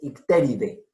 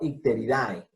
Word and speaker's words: Icteridae: Entonces es icteride, no icteridae.